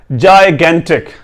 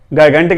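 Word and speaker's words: gigantic: जायगेंटिक, गायगेंटिक नहीं पढ़ना, जायगेंटिक, ठीक है।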